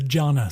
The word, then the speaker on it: Giana: my wife told me actually this is italian the eye is silent so in reality it would be the jhana sisters okay i think i'm